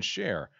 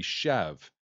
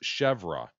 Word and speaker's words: chèvre: chicken share as chicken share, but the correct way to pronounce it is French. It would be chev, while the Americanized version is chèvre. It's also become acceptable. Share, however, is not acceptable.